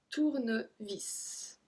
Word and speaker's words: tournevis: Un tournevis. So here we pronounce the S as well.